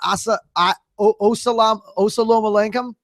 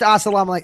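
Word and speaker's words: السلام عليكم: I swear it's called Osalam Alenkum. It's Polish. It's a Polish. Don't quote me. Whatever. It's pronounced Assalamu alaikum.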